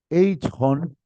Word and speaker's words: Eichhorn: Eichhorn, Eichhorn, se escribe así, J.